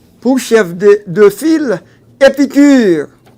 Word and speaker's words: Épicure: Évidemment, cette école de philosophie a pour chef de de file Épicure. Épicure, E accent aigu, P I C U R E.